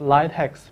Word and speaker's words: LITEX: a light tag so how to pronounce it correctly is Italy tag lie tax and the light hex we like to call its light hex because it's combining these